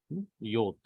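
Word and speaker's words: יוד: Yod. See here, this side is little curved. Some call it as Yud, Yod, whatever it is.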